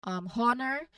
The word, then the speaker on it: honor: As well as honor, we did not say honor, but we say honor.